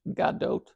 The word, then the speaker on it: Gadot: worldwide was born and raised in Israel galgadot pronounced Gadot is arguably the most famous Israeli in the